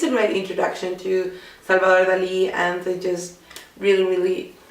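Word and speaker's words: Dalí: It's about Salvador Dali. Actually, that's not how you pronounce his name. You pronounce that like that in English. In Spanish, it's Salvador Dali.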